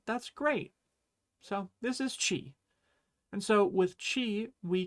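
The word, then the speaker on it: ち: This character is chi, just like the first sound in cheese.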